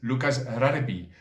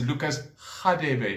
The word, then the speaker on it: Lucas: khadebe which perhaps in england is known as lukas okay now that for example is supposed to be pronounced as lucas in case you're watching this from the uk